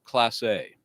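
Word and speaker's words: Clase: His name, his last name is CL L A S E, pronounced class A.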